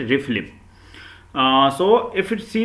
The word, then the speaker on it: RFLP: restriction fragment length polymorphism in pronunciation we are going to call it refleem ah so if you